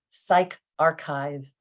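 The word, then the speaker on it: PsyArXiv: the other three and you pronounce them as bio archive psych archive social archive as you can see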